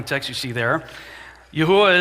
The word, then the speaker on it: Yahweh: text you see there yahuwah is the pronunciation of the tetragrammaton that I've chosen I don't get into fights with people about this some say Yahweh the King James says Jehovah Jehovah look uh we're talking about four consonants and we're doing the best we can the pronunciation I've landed on so if you hear